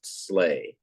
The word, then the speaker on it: sleigh: sled sleigh it's a it's called slay s-l-e-i-g-h is pronounced slay it's time slay out